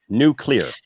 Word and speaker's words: nuclear: supposed to be new it's supposed to be nuclear nuclear new clear news what was that